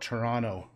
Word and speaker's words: Toronto: if you're from Toronto let me give you a little tip we call it Toronto there's no loss there's no T at the ends just Toronto Toronto if you say Toronto